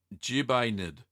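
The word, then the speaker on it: ġbejna: Daniel appreciate a moment Craig says it's pronounced jebaited it's how to pronounce the maltese cheese Cole there you go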